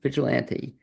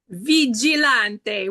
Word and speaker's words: Vigilante: it that way but the true pronunciation of your name is what vigilante with the hand gesture you have to give the gesture that's the Italian way how do you how